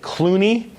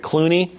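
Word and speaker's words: Cluny: of the big names has nothing to do with actors because it's spelled differently but you have the reforms that clooney william of aquitaine founded a monastery at clooney the colonial system involved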